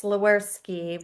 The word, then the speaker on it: Sliwerski: I know it's phonetic. It's Sliwerski. Sliwerski.